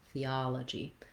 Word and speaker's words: theology: The stress in theology, it falls on the ah syllable, theology.